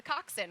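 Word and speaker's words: coxswain: and she was a Coxin, which steers the boat. So, uh, Coxin, I was uh, schooled on that pronunciation, many times.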